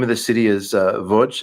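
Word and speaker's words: Łódź: Uh and the name of the city is uh Voch. It's It's spelled like to Americans it looks like L O DZ but they say VJ.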